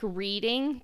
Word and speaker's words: Reading: She grew up in Reading, which it looks like reading to me, but it's actually pronounced Reading, right?